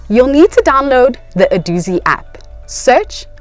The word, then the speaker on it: Adoozy: you'll need to do is set up your adoi Docker place the charger into the wall socket